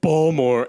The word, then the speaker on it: Baltimore: here from Baltimore good my roommate was like Kevin it's pronounced ball more and I was like